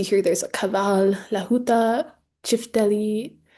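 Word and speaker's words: çifteli: So, going one by one, as you see here, there's a kaval, lahuta, chifteli, the little line under the sea makes it a ch sound, the daire, zorla, tupan, accordion.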